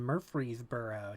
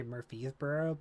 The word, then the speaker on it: Murfreesboro: The easy way to remember Middle Tennessee State is because I always want to say Murfreesboro, but I purposely make that R pronounced in my head.